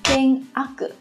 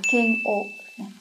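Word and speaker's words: 嫌悪: Thường thì mọi người có thể nhầm và đọc là keng ak này. Thế nhưng mà chữ ak trong cái trường hợp này chúng ta không đọc là ak mà các bạn sẽ đọc là keng o.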